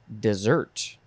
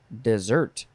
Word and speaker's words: desert: is third form and this one is pronounced dessert dessert this one is a